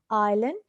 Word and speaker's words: island: Island. S silent.